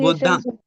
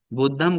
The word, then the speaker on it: बुद्धं: बुद्धंग, वो बुद्धंग शरणं गच्छामि, बुद्धम नहीं। बुद्धम गलत नहीं है, बुद्धम हुआ थाईलैंड से जो आया ना उपसंपदा।